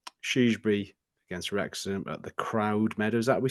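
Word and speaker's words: Croud Meadow: against Rex at the crowd Meadow is that we said is that we say that's how you say it yeah crowd Meadow yeah um let's just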